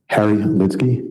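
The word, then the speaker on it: Harry Lidsky: Can you state your name and spell it for the court? I don't. Harry Litzky.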